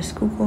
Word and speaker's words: Schuylkill: I just went to a nearby park and ended the day by the Schuylkill River. To be honest, I had no idea how to pronounce the river's name for the longest time, and now I do.